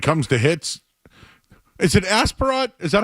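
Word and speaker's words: Aspirot: Um just and and when it comes to hits, is it Asperat? Is that how I say his name? Asparat.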